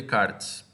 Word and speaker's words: Descartes: tá é se escreve Descartes mas o a pronúncia correta de Carnes tá então René Descartes foi um matemático aí um filósofo muito importante